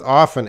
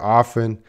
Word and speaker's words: often: Everyone, if you see Tika's word there, often, that has 2 pronunciations. One pronunciation, the T is silent, often. One pronunciation, the T is, you can hear the T, often. So that is a word that depends on the region you are in the world.